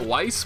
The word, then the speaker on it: Weiss: people have asked me why I pronounce vogner vise even though I think as far as I am aware somebody told me you're supposed to pronounce that Weiss which is just know